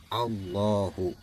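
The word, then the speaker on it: الله: lo jadi jangan dibaca Allahu tapi dibaca allohu paham ya Kalau teman ya tahun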